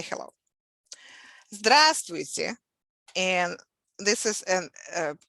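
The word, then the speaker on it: здравствуйте: a formal expression so stress falls on the first syllable so the first syllable is stress stressed so we saying it's like this just which here's an example of reduction of the sound at the end we use letter here we tear but since the stress is on the first syllable it sounds like e drastic drastic that's the formal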